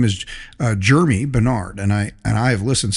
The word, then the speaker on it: Germie: It just sounds, you say his name is Jeremy, but it is.